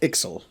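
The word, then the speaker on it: Ixal: either a chieftain okay so it's pronounced ixl x xl well then what about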